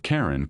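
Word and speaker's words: Charon: For the first syllable of Karen could be pronounced to sound like the beginning of Charlene, which was the name of James Christiey's wife.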